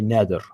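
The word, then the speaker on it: Nader: the year 2000 yeah everybody mispronounces the poor man's name uh yeah he's a Lebanese Arab this desent so his name is actually nether so but but I think he pronounces it nater doesn't he yeah it's angle sized so but let's let's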